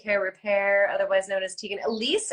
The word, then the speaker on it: Tiegan Alysse: repair otherwise known as Tegan Elise am I pronouncing that right you are but that is my